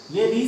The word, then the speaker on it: ऋ: लिखा जा सकता है, लेकिन इसका जो प्रोनाउंसिएशन होता है वो री होता है। लेकिन ये स्वर है, ये स्वर है, इसका प्रोनाउंसिएशन आपका मतलब उच्चारण री होगा।